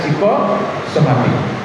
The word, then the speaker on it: psikosomatik: Tulisannya psikosomatik, tapi bacanya psikosomatik.